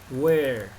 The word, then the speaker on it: where: Where. ¿De acuerdo? Where. La E última no se pronuncia y la R, pues eso, como una R muy suave.